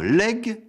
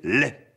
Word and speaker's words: legs: patrimoine que l'on transmet doit-on dire un legs ou un lait il convient de prononcer l'est pourquoi ignore-t-on la consonne g parce que cette graphie